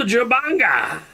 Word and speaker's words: Jubanga: it comes to restoring the relics of the Jubanga. I think I pronounced it right that time.